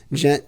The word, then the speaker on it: Djent: h NS o and gent the D is silent I know it's dumb